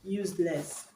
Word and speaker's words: useless: seconds level option C use less useless when I say something is used this is an adjective okay so the stress is gonna be on the first syllable because it's an adjective